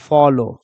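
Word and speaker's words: follow: की मात्रा, तो देखो एफ को हम लोग क्या पढ़ेंगे फॉ, फिर ये कॉन्सोनेंट बीच में आ गया ओ तो ओ की मात्रा लग जाएगा फॉ। एल है तो इसको ल पढ़ो, और लास्ट में जब ये ओ डब्ल्यू आया तो ओ की मात्रा लगा दो तो क्या हो जाएगा फॉलो, क्या हो जाएगा फॉलो।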